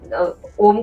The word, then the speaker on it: ओम: है हम ओम का उच्चारण किया अ उ और म ये तीन है।